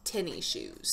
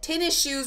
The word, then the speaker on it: tennis shoes: this one right now growing up I was always told that tennis shoes were pronounced tinny shoes not t e in